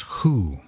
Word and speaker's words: Hu: a sacred word is who spelled H you pronounced H oo oo o or who or dr. who as in dr. who or who who's on